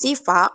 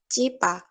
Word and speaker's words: Sifa: or said someone's name, but Irfan pronounced it Cipa by changing the letter S and F to C and P. This means that Irfan cannot pronounce the fricative alveolar S and fricative labiodental F sounds properly, so he changed them to other words.